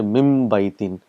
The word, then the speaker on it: min baitin: You say mim baitin. So mim and ba is pronounced together.